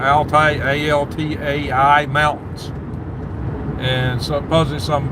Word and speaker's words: Altai: And this place is at some park in the Altai, I don't know if I'm saying it right, Altai, A-L-T-A-I mountains.